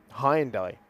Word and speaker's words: Hyundai: I should say Hyundai. Apologies. Hyundai. Yeah, sorry, the Hyundai. It's a bit like Dacia, that one, really, isn't it? Everyone suddenly realised, for our entire lives we've been saying it wrong.